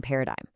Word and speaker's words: paradigm: The trap is the silent G in paradigm. Make sure you do not pronounce it.